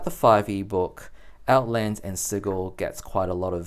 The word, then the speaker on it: Sigil: we have is called sigle and Beyond and yes it is pronounced sigle with a hard G this book is 96